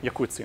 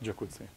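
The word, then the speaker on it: Jacuzzi: It comes from Latin. So Yakutsi, not Jakutsi.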